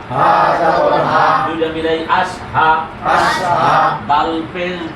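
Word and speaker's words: أشهد: হা জবর হা জবর হা দুইটা মিলাই আশহা আশহা দাল পেশ দু দাল পেশ দু আশহাদু আশহাদু আশহাদু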